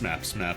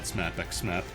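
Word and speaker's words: SMAP×SMAP: Even though it's just pronounced SMAP SMAP and not SMAP x SMAP.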